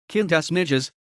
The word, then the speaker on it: Quintus Ennius: quintus Latin pronunciation kinas nides c239 C1 169 BC was a writer and